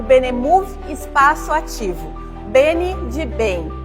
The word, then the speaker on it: Benemov: Pronuncia-se Benemove.